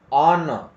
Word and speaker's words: honor: Honor.